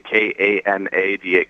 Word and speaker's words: Kanada: spells it instead of Kanra, Kanra, he spells it like Canada with a K, Kanada, Canada. It's a different way of pronouncing it a little bit.